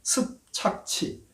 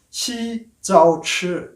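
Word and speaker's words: 習鑿齒: 우리 발음으로 하면 습착치입니다. 발음도 어렵죠? 습착치. 지금 중국의 국가주성이 습근평이지 않습니까? 시진핑인데 한자로 읽으면 굉장히 어렵게 발음이 되죠. 이 사람도 마찬가지입니다. 시자오치 이렇게 되는데 한국말로 읽으면 굉장히 어렵습니다.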